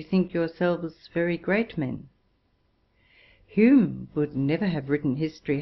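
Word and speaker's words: Home: in square brackets David Hume and John Hume, spelt H-O-M-E, whose names had the same pronunciation, Robertson, Smith, Wallace, Blair, Ferguson, Wilkie, etc.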